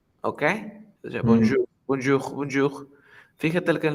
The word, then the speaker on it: bonjour: saludo, mira, dice que lo tienes que pronunciar como bon y jour. Eso sería bonjour, bonjour. Dice, ten cuidado que la J suena como una L argentina, que es j, j, j, j, j.